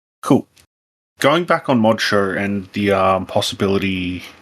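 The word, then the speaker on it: ModXo: called again mod Moder it's written M O dxo It's pronounced Mod Show cool going back on Mod Show and the um possibility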